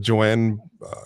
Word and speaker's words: Joan: she made that note spelled like Joan pronounced like Joanne but Joanne she bought one she